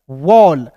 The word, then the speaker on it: wall: फिर देखिए यहाँ पे डब्लू का दोस्तों वह होता है, और ए डबल एल है तो इसका उच्चारण ऑल के रूप में करेंगे, तो क्या हो गया दोस्तों, वॉल, WALL वॉल, ठीक है।